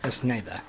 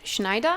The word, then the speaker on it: Schneider: One was Alicia, and the other one was Snyder. Schneider. In fact, it's pronounced Schneider.